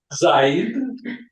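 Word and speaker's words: Zayd: زید Zaid. یا اسمشان زید هستن یعنی ریشه عربی دارن Americans always butcher these names. اوکی یا Zaid.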